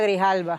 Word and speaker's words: Grijalva: Grijalva. And yes, thank you. I don't say her name right. Say it again. Adelita Grijalva.